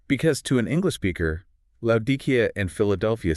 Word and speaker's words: Laodicea: If you listen to the English pronunciation of Laodicea, it sounds like it ends in a vague or ah sound.